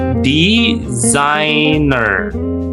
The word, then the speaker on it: designer: Kemudian S-nya ini berubah menjadi Z ya. Jadi dibacanya designer ya. Kalau British I'm a designer. Nah, R-nya itu agak dikurung atau tidak dilafalkan kalau British English. But American English dilafalkan. I'm a designer. I'm a graphic. designer.